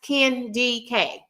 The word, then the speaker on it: KendyK: Y'all, my name is pronounced Ken DK. Okay? My name is pronounced Ken DK.